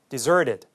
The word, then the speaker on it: deserted: deserted. 뒤에 T 발음은 부드럽게 우리말 리을처럼 발음이 되었고요.